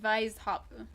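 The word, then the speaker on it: Weisshaupt: caught that before that he actually use pronounces it vice hop like german everyone else in the game pronounces it with the w i don't know why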